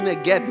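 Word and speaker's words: Neguev: chamada neguebe deserto do neguebe se escreve com ver mas se pronuncia com B depois você pode entrar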